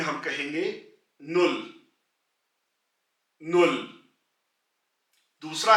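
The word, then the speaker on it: null: तो पहला नंबर है 0 यानी कि सिफर, इसको जर्मन में हम कहेंगे नुल, नुल।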